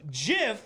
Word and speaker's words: GIF: the dictionary wrote that gif may be pronounced with either a soft g as in giant or a hard g as in graphic yes it can be